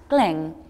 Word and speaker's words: Qeej: It's spelled Qeej, but it's pronounced Gleng.